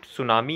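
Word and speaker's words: tsunami: वर्णन तो basically friends इसमें जो सुनामी है उसका जुटी है वह साइलेंट रहता है यह एक तरीके का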